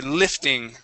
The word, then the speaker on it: lifting: said Lee okay so try and stay away from that Lee when you're thinking of an i sound this uh all right so the word is Li lifted or sorry lifting Li lifting lifting good much better with that short eye that was really good